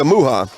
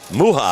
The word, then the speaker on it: Muha: And we do have the pronunciation, Jessica Muha. Muha.